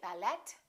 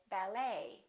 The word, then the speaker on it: ballet: the et ending and in the french language the t is almost always silent so english speakers pronounce it the same way we don't say ballet we say ballet a few more e.t